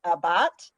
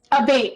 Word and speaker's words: Abate: We have Abat, or is it a bait? Abate, it's a bait.